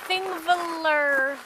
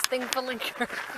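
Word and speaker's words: Þingvellir: We're at Thingvellir National Park, also known as Thingvellir. That's not how you say it. Thingvellir.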